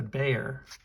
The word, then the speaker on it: Bexar: like this it's the it's the bear it's spelled b-e-x-a-r it's a Magna cut